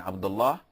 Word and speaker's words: Abdullah: So if you're going to pose, you have to say Abdullah, and that is it.